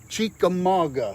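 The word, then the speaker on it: Chickamauga: medicine that's correct hey tracy clevenger says it's chi ka maga chica maga that's the proper pronunciation so hey we learned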